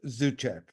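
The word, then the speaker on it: Zuczek: No, but it's pronounced Zuchek. Zuchek.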